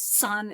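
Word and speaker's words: 散: So the word powder is san, S-A-N, and the word scatter is exactly the same character, but it has a different tone for the pronunciation.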